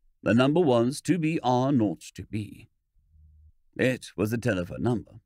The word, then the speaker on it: 2BR02B: The 0 in the telephone number he pronounced naught. The number was 2BR02B.